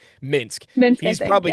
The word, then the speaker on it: Minsk: Minsk.